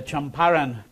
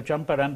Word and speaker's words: Champaran: of Motihari and the Champaran region. That, by the way, is a correct pronunciation. I've been using the colloquial Champaran, but it's actually Champaran, the place where Gandhi